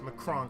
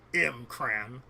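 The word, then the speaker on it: M'Kraan: At least you said it right. It's Macron crystal, not the M-Cran. It's Macron.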